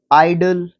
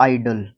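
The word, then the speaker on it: idle: देखो तीन वर्ड्स हैं आइडल आइडियल और आइडल पहले और तीसरे को आइडल ही बोलते हैं स्पेलिंग चाहे कोई भी हो देखो आई डी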